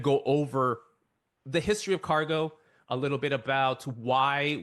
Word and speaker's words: Kargo: announcement people look at cargo and they're like oh it rhymes with Argo yes they are very